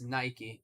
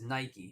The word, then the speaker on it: Nike: foreign r b j d 5836 Lulu it's Nike that's how they pronounce it buddy you're gonna get timed out if you keep talking about it exactly Ryan the brand says their own name as Nike so that's what it is it's period Point